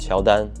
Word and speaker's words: Qiaodan: a Chinese brand called Sheldon or you can call it QD and short form it is literally the Chinese pronunciation of Jordan Jordan as in like